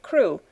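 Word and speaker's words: Crewe: difference in the name madame pascal pronounced it as if it were karu instead of crew but that might be merely a matter of pronunciation the circumstances were curiously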